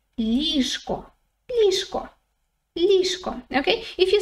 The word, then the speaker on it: ліжко: But if you say it quickly, it sounds more like ліжко, ліжко, ліжко, okay?